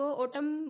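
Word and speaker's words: autumn: कहां है और इसको ऑटम बोलते हैं पतझड़ को और term S यूटीयू एम एन इसमें एंड साइलेंट होता है इसको बोला का यह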